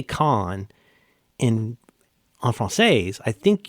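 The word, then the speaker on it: Caen: That film festival can can you guess how CeN is pronounced? Kines con because that's how you actually when you say con I think when you say con and on frances I think you're pronouncing it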